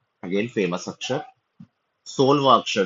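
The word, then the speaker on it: Phi: 21वें अक्षर को कहते हैं फी। अगेन इसको मैथमेटिक्स में फाइव बोला जाता है, बट इसका उच्चारण है फी।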